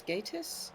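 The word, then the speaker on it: Gatiss: like um yeah I never know whether it's Mark Gatus or Margaratis. I've I think I've heard it pronounced both ways now but I don't know. I think it's Gatus. I thought I heard him say Gatus.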